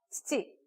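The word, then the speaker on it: 父: 다 치츠테토에 나오는 치이기 때문에 발음이 쉽지 않습니다. 연달아 나오기 때문에 이렇게 약간 훅 치고 이렇게 복싱해서 이렇게 치고 칙칙, 이 바로 그 느낌이에요. 그 소리가 나도록 치치라고 하면 일본어로 아버지가 됩니다.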